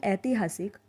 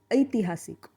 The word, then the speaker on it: ऐतिहासिक: हिंदी में इसका प्रोनाउंसिएशन ऐतिहासिक ऐसा होता है, लेकिन मराठी में ए पर थोड़ा और ज़ोर देंगे और थोड़ा और लंबा खींचेंगे तो बनता है ऐ, और ऐ से बना ऐतिहासिक।